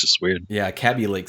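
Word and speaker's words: Kaby Lake: Every big tech tuber that has sat down with them personally in conferences have called it KB Lake. So if Intel is mispronouncing their own shit, this is the CW at CW TV.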